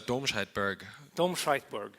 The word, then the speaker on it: Domscheit-Berg: you say your last name now it's a doshite BG domberg was that good yeah good perfect and also